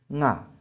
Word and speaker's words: 我: 不是我，比如椒江有些地方说啊，其实这是我的古代发音。